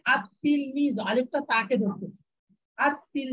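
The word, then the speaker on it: التلميذ: এই লামটা থেকে যাবে, যে লামটার কোনো ভ্যালু থাকবে না, ভ্যালু মানে উচ্চারণের কোনো ভ্যালু থাকবে না, নামটা উচ্চারণে আসবে না, শুধু লেখায় আসবে, পড়ায় আসবে না।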